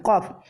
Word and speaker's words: qaf: ketika kita mengucapkan huruf qaf. Seperti mengucapkan huruf qaf seperti kaf ya. Jadi kalau dia baca qalu dibacanya kalu. Nah, ini merubah huruf qaf menjadi kaf.